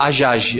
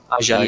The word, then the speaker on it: Hajaj: Certo, então, né, doutor Daniel Romano, a pronúncia certa é Rajaj. Isso? Ajaj, é como se não tivesse o né? H. Ajaj.